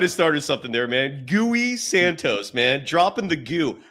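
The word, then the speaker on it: Gui: It's Guey. I love that you call him Gooey. Oh, that's not that. Dude, you might have started something there, man. Guey Santos, man.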